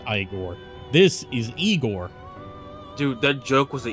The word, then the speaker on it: Igor: make your acquaintance I thought his name was pronounced igore no that's igore not eigor well they told me it was igore no that's a no that is igore who whose name is pronounced igore this is eigor dude that joke was a ear sore this